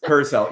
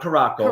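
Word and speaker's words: Curaçao: Kursel. Yes. Not Carco.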